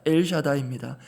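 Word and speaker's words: אל שדי: 여기서 전능자로 번역된 단어는 먼저 히브리 원어 발음으로 종종 들어보셨을 것입니다. 엘샤다입니다. 전지전능한 능력의 하나님을 가리킬 때 주로 사용하는 표현 엘샤다입니다.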